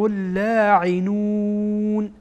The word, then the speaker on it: اللاعنون: در واقع وصل میشه، چرا که لام از حروف شمسیه هست و این لام در اینجا کاربرد نداره و تلفظ نمیشه. ملاعنون و یلعنهم اللاعنون.